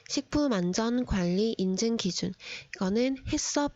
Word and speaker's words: HACCP: 관리 인증 기준 거는 해썹 이라고 읽고 haccp 라고 적습니다 일섭 제도에서는 소비자에게 위해를